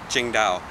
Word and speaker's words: Tsingtao: This is, you don't say it like it's spelled, it's Tsingtao.